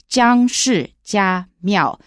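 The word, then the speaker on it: 姜氏家廟: It's pronounced Jiang Shi Jia Miao.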